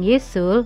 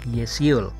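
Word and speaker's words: Ye-sul: gọi cô ấy là Yeseul mặc dù rất hiếm người phát âm đúng tên của Hong Ye-sool, chỉ 4 Mọi người gọi cô ấy là Ye -Sool không phải là yeseul sau khi nghe nó một lần .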